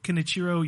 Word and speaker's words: Kenichiro: Sony CEO Kenichiro Yoshida said, quote, at this point, thank you. Very good. Quote, It's pronounced Ken Ichiro.